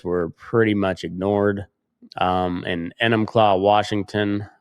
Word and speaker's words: Enumclaw: And Enumclaw, Washington, I'm not sure. I think that's how you say it. E N U M Claw. Enumclaw. Enumclaw.